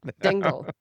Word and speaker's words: Dingle: Dingle. As said, as it's spelled, D I N G L E.